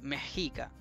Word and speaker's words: Mexica: pusieron una ese simbolito que es como una x pero no es una x sino que un simbolito que representa la g antigua y por eso se dice mejica mejica eh Y por eso no se dice mica ni mxico porque no es una x es una G Entonces los aztecas vivían